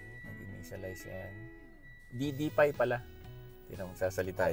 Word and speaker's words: DDPAI: ito yyung installation ng ddp so ang tamang pronunciation is ddp tulad ng sinasabi ng pag ino-on natin to